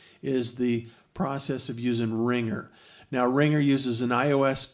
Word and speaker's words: RingR: to itunes app store look for ringer and it's spelled r-i-n-g-r and it's able to